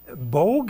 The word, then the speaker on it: Bogue: So first, Jason Bogue, am I pronouncing it correctly?